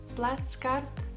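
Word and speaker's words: плацкарт: class which is called platskart which is very easy to learn if you're from germany just pronounce this german word with russian accent so plus card second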